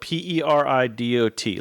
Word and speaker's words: peridot: is it it's not like a real one peridot i have no idea what that is it's spelled p-e-r-i-d-o-t look it up it's peridot cook it can